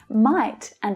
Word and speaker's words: mighta: known what to do might and have become mightive might've or mighta she might have taken